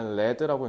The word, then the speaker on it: lead: 즉 이거를 명사형으로 발음할 때 레드라고 읽는데 그게 납이란 뜻이야.